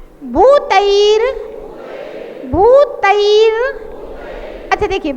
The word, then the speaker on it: भूतैर: भूतैर भूतैर, अच्छा देखिए बहुत सारे लोग इसके रा का उच्चारण नहीं कर पाते तो फिर वो भूतई गुण ही पढ़ते हैं, उनको पता नहीं है कि रा कहाँ पढ़ना है। भूतैर भूतैर भूतैर, अरे भूतेर नहीं है, तैर तैर आई की मात्रा।